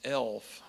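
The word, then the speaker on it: ELHF: is called being an e l hf pronounced elf expedited limited healthcare fiduciary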